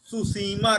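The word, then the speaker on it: Tsushima: तो सोचने वाली बात है कि जब टी लगा हुआ है तो साइलेंट क्यों है। हर जगह सुनामी, सुसीमा, सुगारू है ना, तो हर जगह जब यस के पहले टी लगता है तो उसको साइलेंट काहे कर देते हैं।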